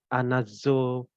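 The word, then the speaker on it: ἀναζωπυρέω: Itu sebenarnya dalam bahasa Yunani itu bacanya adalah anazopureo.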